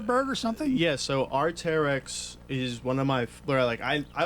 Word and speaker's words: Arc'teryx: So here's the question: is it Arctic? No, Arc'teryx. Arc'teryx. Yeah, Arc'teryx.